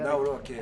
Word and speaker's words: Nawrocki: I Yeah, better- Nawrocki.